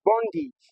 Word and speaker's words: bondage: as in the word bondage the letter a at the end is going to produce a short e sound so that word we called bondage is actually pronounced as bondage.